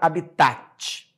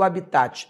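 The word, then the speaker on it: hábitat: dela tá aqui ó ela é uma palavra proparoxítona só que ela não pertence à língua portuguesa ela é uma palavra Latina OK ela vem do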